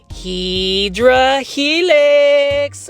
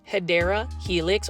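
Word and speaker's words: Hedera helix: Plan foldies. 1 2 3. Heedra helix. Or the correct way to say it is hideera helix or what you would call the English ivy.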